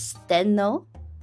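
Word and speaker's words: Stheno: So there's Steno. Steno is spelled S T H E N O.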